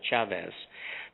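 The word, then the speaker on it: Chávez: Now, I should say it properly in Spanish, Chavez.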